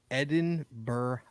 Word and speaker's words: Edinburgh: few like joint investigations going on so Jets pronounced Edinburgh borough n borough all right okay it is